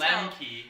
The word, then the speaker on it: Lemi: And then he he he compared he I guess oh we're being told his last name is Lemi and that uh